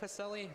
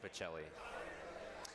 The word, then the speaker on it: Pacelli: know the thing is it looks like pacelli but it's actually pacelli I learned that I learned